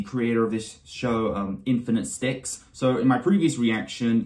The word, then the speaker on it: InfniteStix: of this show um infinite sticks so in my previous reaction to episode one I said your name wrong I said infinite six I did not see the T in the title you see even when